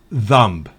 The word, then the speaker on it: thumb: Por ejemplo, si B va después de M al final de una palabra, no se pronuncia. Por ejemplo, bomb, dumb, climb, lamb, thumb.